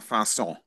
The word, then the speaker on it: façon: Yeah, I think it's pronounced façon. Façon. Yeah, façon de parler. What is it? Because the C's got a little tail underneath it, so it's like an S.